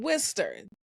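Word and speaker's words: Worcester: with some good news Okay in wiester I'm telling you all that's not how it's spelled but that is how it is pronounced in Wier cities located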